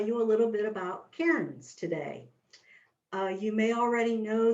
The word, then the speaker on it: cairn: is spelled c-a-i-r-n and it's pronounced with just one syllable karen i tell you that